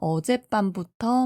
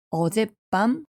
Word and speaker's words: 어젯밤: 어제와 밤이 합쳐졌는데 어제 밤이 아니라 어젯밤이라고 이야기하고 코와 속이 합쳐진 단어도 코속이 아니라 코속, 귀속이 아니라 귀속 이렇게 이야기하니깐요.